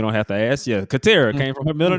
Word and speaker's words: Catera: like, wait a minute, is it tear or tear? Have I been saying it wrong all these years? You know what? You are the second person to ask that, but it is Catera. So Okay. tear, like rip.